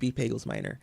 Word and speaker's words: Pagels-Minor: on twitter and again it's bagels minor everywhere in the world and i'm glad you uh did the pronunciation because we had that conversation this morning i didn't know if it was you told me one time somebody said minor and you're like no we're not that fancy yes yes